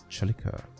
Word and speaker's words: Celica: I don't know how the Japanese pronounce it somewhere, you know, in Europe because a c e makes a ch sound like a ch pronounce it a chilica.